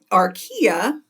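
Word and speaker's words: Archaea: cell can is the whole organism the domain Aria and that is how you pronounce it is also consists of unicellular organisms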